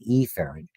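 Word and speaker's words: efferent: And we usually use emphasize the letter when we're pronouncing it because it avoids confusion. You hear that a lot. We talk about aerant which is incoming and eerant which is outgoing because aphrant and epherent are hard to distinguish.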